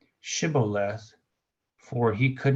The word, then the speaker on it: shibboleth: less but he said shibboleth for he could not pronounce it correctly oh sybillath instead of the he didn't put the H Then They seized him